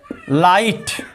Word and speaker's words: light: यदि GH letter शब्द के बीच या अंत में आए तो वहां पर GH साइलेंट होता है। जैसे लाइट, LIGHT, लाइट मिस होता है प्रकाश।